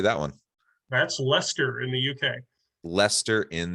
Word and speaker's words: Leicester: That's Leicester in the UK.